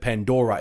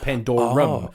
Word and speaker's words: Pandorum: I mentioned this a couple of podcasts ago, but I fucked it up and I said Pandora. It's called Pandorum.